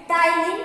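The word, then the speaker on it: ptyalin: इसमें पी जो है वो साइलेंट है, टाइलिन स्लाइवरी अमाइलेज।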